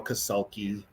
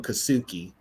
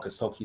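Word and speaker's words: Kassulke: the Vikings, towards Carl Kasulki. He couldn't say his name, so he called him Kasuki. He couldn't say Kasulki.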